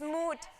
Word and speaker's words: Mood: It's Mood. Yeah, no, you're absolutely right. So it's MOOD, like mood, happy mood, bad mood, Mood Fabrics.